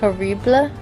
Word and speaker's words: Horrible: much is it um it's pronounced haribla thank you horible it's french um and then it depends on how much this is so raw result only cost me 40 000.